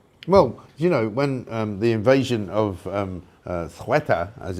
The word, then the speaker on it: Ceuta: Well, when the invasion of Ceuta, as it's now pronounced, down in Spain, or Morocco, I should say, northern Morocco, happened last week, and we all covered it.